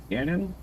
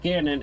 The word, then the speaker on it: Ganon: It's G A N O N. So like you know how's the the camera company canon? It's that but with a G in front.